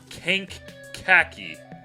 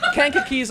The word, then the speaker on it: Kankakee: okay uh may 17th free rhubarb festival at kink khaki king ready to go back to pronunciation school what's cake you're from here that is from ohio you're that's kankakee's on the way to ohio kind of is